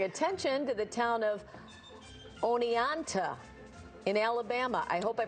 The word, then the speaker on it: Oneonta: But his videos are helping bring attention to the town of Oneonta in Alabama. I hope I pronounced that right.